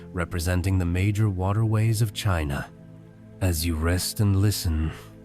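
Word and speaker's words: Qin: The name China itself derives from Chin, pronounced Chin, a lasting echo of his achievement.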